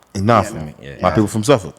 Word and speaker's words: Norfolk: not Norfolk. It's Norfolk. Norfolk.